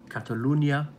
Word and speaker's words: Catalunya: axe to grind about Catalonia Catalunya I think it's pronounced it I'm going to be